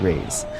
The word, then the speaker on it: Rei: Oh, it's pronounced like raise. like give me a raise.